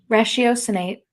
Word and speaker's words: ratiocinate: Ratiocinate.